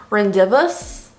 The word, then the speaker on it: rendezvous: this is the rendezvous palette i've been saying rendezvous because i didn't know rendezvous was spelled like that like this is not how i